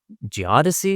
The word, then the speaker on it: geodesy: are scientists out surveying, doing this geodetic or geodesy. Is that am I pronouncing that correctly?